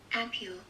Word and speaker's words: ampoule: Ampule.